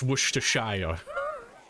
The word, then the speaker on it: Worcestershire: I think it's when they pronounce the end of Shire. I think that's most of them. Worcester. It's Worcestershire.